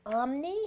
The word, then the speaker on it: Omne: Yes, it is Omne. It's spelled Omne, and it is an acronym. It means Optimum Medicine is Nature's Elixir.